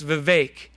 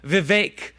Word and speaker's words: Vivek: He says it's Vivek. It rhymes with cake. So be smarter than all your friends and call him Vivek Ramaswamy.